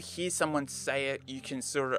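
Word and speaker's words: お: This is equal to the vowel O in English. You pronounce this as O.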